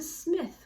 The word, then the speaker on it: Psmith: This is Leave It to Smith with a silent P.